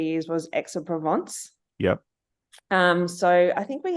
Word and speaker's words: Aix-en-Provence: So the first one that I played with for 3 years was Aix-en-Provence.